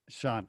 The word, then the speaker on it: Shan: Just call me Shan. Sean. Okay. I was saying Shan earlier. I was mispronouncing it.